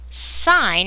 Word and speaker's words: sine: Sine, it looks like sin, but it's actually pronounced sine.